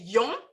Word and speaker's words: yon: Donc, il y a un seul article indéfini dans le créole haïtien, c'est yon, mais c'est on, c'est une autre prononciation, mais c'est le même mot.